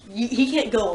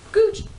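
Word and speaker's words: Gou: Which is Gooch. Go.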